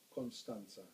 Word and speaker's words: Constanța: The Romanians pronounce ts with a curly thing under. So the second T has a curly apostrophe underneath, and that's pronounced ts. So it's Constanța in the Black Sea.